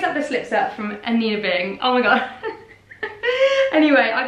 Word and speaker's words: Anine Bing: How to pronounce Anina Bing. Anina Bing.